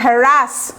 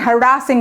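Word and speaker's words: harassing: আর উচ্চারণটা কিছুটা দেখেন, হ্যারাসিং মি, হ্যারাস বলি আমরা, এটা ঠিক না, হ্যারাসিং মি, ইউ R actually হ্যারাসিং মি, ঠিক আছে।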